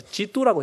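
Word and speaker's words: 基督: 준말로 해버리니까 첫자와 끝자를 따가지고 기독이라고 해서 지두라고 해버렸어.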